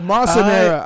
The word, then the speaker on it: Massa Nera: Oh, Massa Nera. I'm sorry, I mispronounced that one.